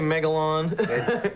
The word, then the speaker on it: Magellan: Magellan. It depends on where you're from. Because here is the In Right. Germany, in Right. Germany, they say Megalon. In Florida, we say Magellan.